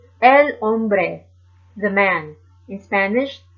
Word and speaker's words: hombre: for feminine de el hombre el hombre the man in Spanish the H is silent however the letter J